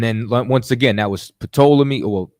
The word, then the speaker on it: Ptolemy: And then once again, that was Ptolemy. Well, it's really Ptolemy. You know what I'm saying? The P is silent, but it's Ptolemy over there in Egypt.